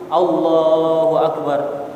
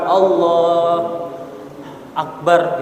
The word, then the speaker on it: Allahu Akbar: Kata Allahu Akbar ini harus satu barisan, harus satu pengucapan. Allahu Akbar, bukan Allah Akbar gitu ya. Mandek sih kalau misalkan kalau di hukum tajwid itu ada saktahnya gitu ya. Allah Akbar, nggak boleh.